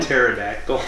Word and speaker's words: pterodactyl: Because the P is silent?